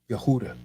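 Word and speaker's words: יהודה: ends in the uh a8 sound right yahuwah yahooda so the evidence for yahuwah based on yahudah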